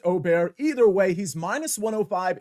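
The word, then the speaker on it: Åberg: mentioned I've got ludvig ludvig aerg well it's actually pronounced Oar either way he's minus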